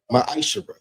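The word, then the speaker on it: מעשר: You can find this in the book of numbers 18 21 book of Malachi 3 8-10 means tent in Hebrew and is pronounced maish 10% of every penny of any increase the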